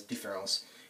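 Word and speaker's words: différance: This is still pronounced as différence in the French language.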